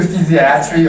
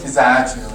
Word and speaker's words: physiatry: by entrance okay well you can do physiatry or physiatry like tomato or tomato um so yeah it's